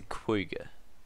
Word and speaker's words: quagga: It's a quagga. You can watch YouTube videos on it and everything. It's pronounced quagga. Don't ask me, guys. I didn't invent it. That's just how it's pronounced.